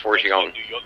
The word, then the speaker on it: Forgione: John, how do you say his last name? Forgione? Yeah, Forgione. Forgione. Okay, I'm pronouncing the E.